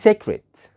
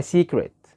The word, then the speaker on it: secret: اقرا كده الكلمه دي، شوف انت بتنطقها ازاي، وشوف النطق الصحيح بتاعها، هل انت بتنطقها صح ولا غلط؟ ها، ما تقولش secret، ما تقولش secret، لا، امال اسمها ايه؟ اسمها secret، secret يعني سر.